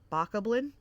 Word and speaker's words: Bokoblin: So bok, like a chicken, like bok. Oblin, Bokoblin. You'll have to forgive me.